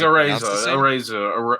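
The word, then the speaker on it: Araiza: But I'm like, it's like a razor.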